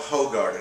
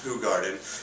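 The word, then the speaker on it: Hoegaarden: a who garden yes you're going to want to call it ho garden because of the way it's spelled but it's actually pronounced who garden it says so in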